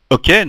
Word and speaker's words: OK: par une petite définition ok donc qui se compose de la colade de deux lettres le O et le K à prononcer à l'anglaise est une expression utilisée